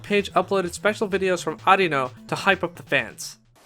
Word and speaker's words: Arino: we talked about in the ds game arino was pronounced areno arena arena arena burrito arena yeah it's